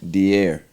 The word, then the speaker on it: Diarra: Deier. Deier. Yeah. Let me let me spell it.